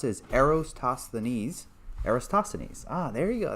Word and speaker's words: Eratosthenes: All right, so someone says the correct way to pronounce it is Eratosthenes.